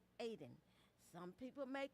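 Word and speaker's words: Ayden: And it's pronounced Aiden. Aiden.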